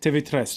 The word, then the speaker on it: TV3: How do you say it? TV3. TV3. Oh, just like in Spanish. Yeah, exactly. Same as in Spanish.